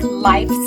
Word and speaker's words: life: Boys and girls, life and wife have a long vowel sound, and the E signals the I to say its long sound, so you hear the F sound at the end.